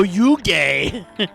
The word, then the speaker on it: Yuge: It's spelled like huge. No, you gay.